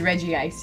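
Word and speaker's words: Regice: 120 for regist steel officially it is Reggie ice even though it's spelled reg ice regi ice guys okay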